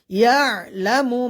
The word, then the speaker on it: يعلم: হবে আলা ইয়ালামু ইয়া এখানে আইনের উচ্চারণ আমরা সবাই ভালোভাবে উচ্চারণ করব ইয়ালামু মান খলাক মান এখানে